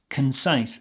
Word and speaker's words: concise: have the word concise concise again check the pronunciation there K not con but can concise this is an adjective